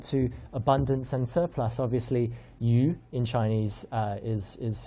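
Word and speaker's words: 鱼: Obviously, yu in Chinese is how you pronounce fish, and it also is how you pronounce surplus.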